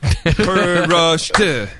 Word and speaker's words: Prost: We'll go Prost. Prost. Good. I like it. All right. Wait, isn't that 2 syllables? Prost. No, just it's one. not. Prost.